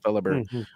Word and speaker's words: Fellhaber: So the H is silent. Fellhaber.